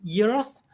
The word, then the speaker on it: gyros: great job and I saw the word euros and um spelled spelled g-y-r-o-s and it's like oh that's what they meant by Gyros on Seinfeld oh my God it actually makes sense now oh okay the